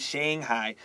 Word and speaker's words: Shanghai: Our next sentence says, at book signing events in Beijing and Shanghai, I'm using the American pronunciation, Beijing and Shanghai, thousands of fans greeted her and treated her like a celebrity.